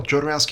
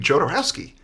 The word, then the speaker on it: Jodorowsky: let's go make josi's Dune okay working title jarowski is doing that's what it's about could never come up with a better title and that was tough because a lot of people can't say the name jarowski really so oh yeah people just like hodorowski